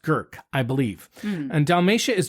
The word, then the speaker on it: Grk: wines like Pochip and Girk. It's spelled GRK, I kid you not, but it's pronounced Girk, I believe.